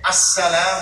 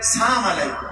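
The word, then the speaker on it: السلام: এবং সালামকে ওলামায়ে কেরাম বলছেন যে আসসালাম শব্দটা ক্লিয়ার উচ্চারণ করতে হবে। অনেকে আমরা বলি সালাম আলাইকুম সালাম, এদের ইহুদিদের সালাম। ইহুদিরা বলে সাম আলাইকুম সাম, সাম মানে মৃত্যু।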